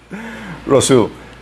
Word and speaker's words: Rousseau: ¿Saben cómo se pronuncia? Rousseau, que era del siglo XVIII.